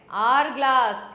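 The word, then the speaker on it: hourglass: tube तो यह है आर ग्लास एच ओ यू आर तो इसमें एच साइलेंट रहता है आर ग्लास अ वेरी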